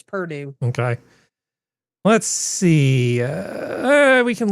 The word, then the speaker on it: Purdue: You say it like it's Burgoo, but it's Purdue? Yes, I am. It's Purdue.